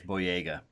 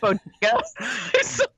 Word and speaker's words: Boyega: I believe it's Boyega. Oh, how did I pronounce it? Did I pronounce it Bodega? Every time tonight you have pronounced it Bodega.